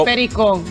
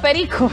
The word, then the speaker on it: pericón: Pericón, no perico. No, pericón. Pericón. Es pericón, pericón. Es pericón grande, pues. Sí, pericón. Acento en la O.